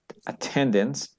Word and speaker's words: attendance: Let's take, attendance, second syllable stress, before we begin.